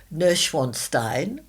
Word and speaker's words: Neuschwanstein: So, if you go to uh somewhere in Bavaria and it's Neuschwanstein. Great pronunciation.